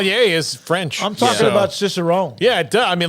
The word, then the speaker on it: cicerone: that's yeah that's cool and cicerone I guess it's how it's pronounced it seems it's how it's pronounced it's a beer somaler apparently so we all learned a new word today and it's not somal it's that cicerone is a beer somal is what I just gathered